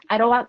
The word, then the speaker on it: Idlewild: So I found this woman who makes 100% coconut wax candles in, do you pronounce it Idlewild? Is that the name of the city? Idlewild.